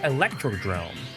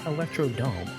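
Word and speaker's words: Electrodrome: Starting with the base game, I really love Electro Drrome. Yes, that's how it's actually pronounced. It's not Electrodome.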